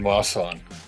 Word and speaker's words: Masan: that you live in because I can never pronounce it properly. I just say Korea. Yeah, I'm in Masan.